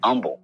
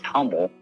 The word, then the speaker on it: Humble: And you have you have those names out there that people mis mispronounce all the time like umble. People pronounce it as humble.